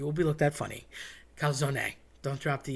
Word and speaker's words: calzone: So everybody wants to say calzone. I get it. You're lazy. You don't want to say the E on the end. Here's my problem with that. Being a linguist and speaking Spanish and Italian, I can tell you, you don't want to say that. You don't want to drop that E.